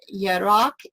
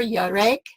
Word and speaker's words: Yarek: We have basically learned here in the last couple sessions that 3391, Yarak, and 3394, Yarek, that's how you say it.